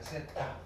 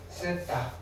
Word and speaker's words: 세타: 번데기, 발음기호 번데기처럼 생겼는데 요거를 뭐라고 이렇게 쓰시고 뭐라고 읽으시면 되느냐면은 세타라고 읽으시면 돼요. 세타. 그리스 알파벳이에요. 그리스 알파벳. 세타.